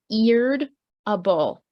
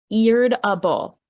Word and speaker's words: irritable: video for the day the first one is irritable I've written the pronunciation notes right here eared a bowl it is said in it does not look at all how we say it so we say it completely differently from how it looks eared a bull okay the next pronunciation